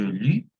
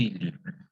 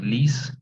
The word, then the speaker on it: lis: Sin embargo, que lo que sucede aquí es que no se va a marcar esa letra S, ¿no? Entonces, simplemente je lis, tu lis. No vamos a decir lis, ¿no?